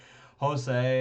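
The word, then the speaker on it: José: pronounce the Jay but I always want to pronounce the J Jose and camel here on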